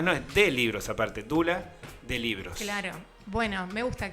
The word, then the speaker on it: Doula: de los servicios editoriales de dula libros aunque se escribe doula libros con lo cual nos confunde a todos los que no sabemos en principio De dónde viene la palabra doula que es dula qué es doula libros